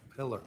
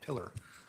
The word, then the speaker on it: Pillar: Polar. Detective Polar on I always say your name wrong. Pillar. Pillar.